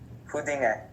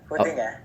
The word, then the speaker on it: Huddinge: So how do you say it correctly? Huddinge. Huddinge? Yeah, Huddinge. Okay.